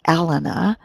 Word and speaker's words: Elena: Elena, in the English, we'd pronounce her name Elena, which is a pretty name, but you might be Elena. I'm not sure.